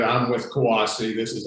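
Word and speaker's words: CUAHSI: socialization so um as we said i'm with kawasi this is how you this is how you pronounce it that our name is sometimes mispronounced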